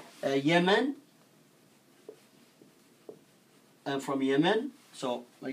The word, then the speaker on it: Yemen: me no human oh approximately we say Yemen this is the right way to pronounce it the team in I know we write in English this way but we say it's Yemen it's pronunciation Yemen okay it's a good